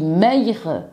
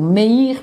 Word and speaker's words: Meir: Parce que un rabbin célèbre, Rabbi Meir, ou Meir plutôt on doit prononcer, dit que cet arbre dont Dieu avait interdit de manger, en fait c'était du blé.